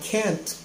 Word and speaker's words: can't: contraction is kent and it's very important to pronounce the t at the end of the word i can't go to the movie